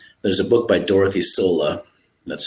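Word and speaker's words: Sölle: There's a book by Dorothy Sola. That's spelled Soelle.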